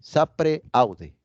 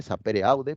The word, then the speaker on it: sapere aude: Aquí surge una palabra latina, que se dice así, sapere aude. Sapere aude. Se escribe sapere aude, pero se pronuncia en latín sapere aude.